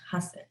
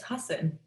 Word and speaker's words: Hussein: okay and he said my name is hussein it's pronounced hassan and i was like okay it's husson i've just been pronouncing it wrong my entire life but everyone else was